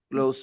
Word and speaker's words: close: two different pronunciations yes the verb is pronounced close with Z but the adjective is pronounced with s close close close